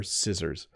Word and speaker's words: scissors: letters than it needs it doesn't need the letter c as the second letter and so people sometimes accidentally try to pronounce the C but these are scissors when you need to